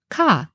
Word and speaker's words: kA: we call Aleph so in modern hinds we pronounce this kah and you might have